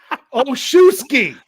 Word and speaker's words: Olszewski: Olszewski. All right. Okay. Think about this. I've had to look this up multiple times. Olszewski. O-L-S. Z-E-W. S-K-I.